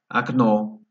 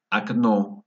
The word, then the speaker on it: окно: Окно, ventana. Окно, vemos aquí la A, se pronuncia como A porque lleva la fuerza de voz en la segunda O. Окно.